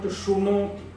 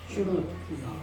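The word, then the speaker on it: शृणोति: It is not shunoti. Shrunoti. Shrunoti. Shrunoti. Not shru. See, for many people there is no difference. Shrunoti. See, r is pronounced by some people as ru.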